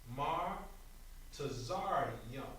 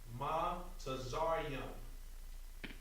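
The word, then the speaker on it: Mitzrayim: But now, when we pronounce it, it's going to be Mar Tazaryum. Ma Tazaryum.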